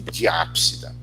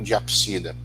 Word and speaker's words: diápsida: Para os que apresentam duas, a gente dá o nome de diápsida. Você pode também chamar de anapsida ou diapsida. Tá? Já vi as pessoas utilizando ambas as pronúncias. Eu falo muito anápsida, diápsida.